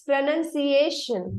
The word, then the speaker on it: pronunciation: yes, it's pronunciation, not she, sha, something like that you were pronouncing at that time. So it would be Yes. pronunciation. Pronunciation. Sha is not there in the last syllable.